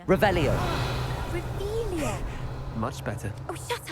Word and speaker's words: Revelio: You're Revelius. saying it wrong. Revelio.